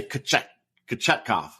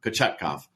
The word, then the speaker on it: Kochetkov: No, I mean, I did look it up, and that's how it looked like the phonetic should be, is Peter. I'm going to say Kochetkov. There, Kochetkov. Kochetkov? Pyotr Kochetkov, something like that.